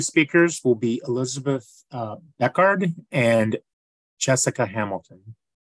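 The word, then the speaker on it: Bechard: the next two speakers will be Elizabeth uh beckard and Jessica Hamilton whenever you're ready thank you my name is Elizabeth bashard and that's spelled b-e-c-h-a-r-d and I am a senior policy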